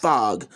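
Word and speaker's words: Phog: And that is pronounced fog.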